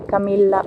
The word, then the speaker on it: Camilla: Con doble L. Sí, que se pronuncia una Camilla, una L más fuerte, sí.